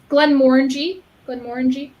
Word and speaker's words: Glenmorangie: So Glenmorangie. So instead of saying Angie like a girl, you would say.